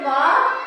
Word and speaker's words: walk: वाल की तो पढ़ते, लेकिन अब हमने एल पढ़ा है यहाँ पे नहीं। क्यों नहीं पढ़ा? क्योंकि एल के बाद क्या आया? के। एल यहाँ पे क्या हो गया? साइलेंट।